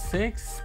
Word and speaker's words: VI: at the five skin some people pronounce it vi some other people call it six but i'm just for